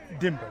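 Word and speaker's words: Dimgba: CH D last name dimber d i mgba so it's easy to pronounce without the G without a good part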